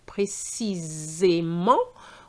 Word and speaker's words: précisément: Tip number 8, don't forget to pronounce the S sound like a French Z when placed between two vowels. So for example, if you have the word precisely, précisément, we're going to say Z as opposed to C because the